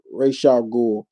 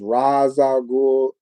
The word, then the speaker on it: Ra's al Ghul: Uh, what is what is the right pronunciation for Ra's al Ghul? I said it like Ra's al Ghul. I say Ra's al Ghul. Somebody says Raz al Ghul.